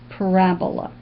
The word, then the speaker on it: parabola: It looks like it could have a different pronunciation, but it is parabola.